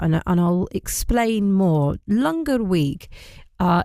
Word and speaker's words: langar: extend this out and and I'll explain more lunger week uh it's become an annual date in